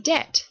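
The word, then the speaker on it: debt: the old classics so we have things like Deb spelled the way we pronounce it in Middle English from French and the garans add a b in there why you ask because in Latin it's dub and dub has a b and that's not how we pronounce it in English but they still felt the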